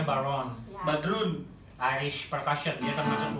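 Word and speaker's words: bodhrán: Tulisannya Bodr bacanya Baron.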